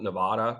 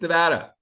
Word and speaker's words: Nevada: on the East Coast I always called it Nevada Nevada Nevada Nevada it's Nevada anyway Jackie rosen's polling very very well against